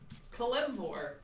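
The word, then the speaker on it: Kelemvor: Kalimvor.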